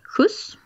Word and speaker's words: skjuts: And that word is, for example, skjuts.